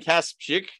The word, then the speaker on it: Kasprzyk: today's guest is let's see if i can pronounce your last name right perfect all right let's hear you pronounce it i kaspick and you're the author